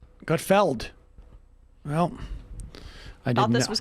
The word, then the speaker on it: Gutfeld: regular basis is it is it not gutfield no i gotfeld well i thought this